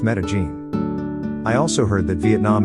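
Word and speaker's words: Medellín: to go is made in Colombia which is pronounced Medellin I also heard that Vietnam is good for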